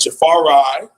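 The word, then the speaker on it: Jahfari: to defensive end and jafar rai that's how you're supposed to pronounce his name jafar rai harvey on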